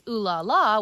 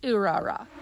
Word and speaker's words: Urara: So if it was Ulala, which would be an adapted thing, it would have been spelled in katakana, but in fact it is spelled in kanji, the kanji which means beautiful, which in this instance, B, is pronounced Urara.